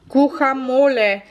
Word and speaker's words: guacamole: Böyle sürme gan guacamole diye okunuyor arkadaşlar.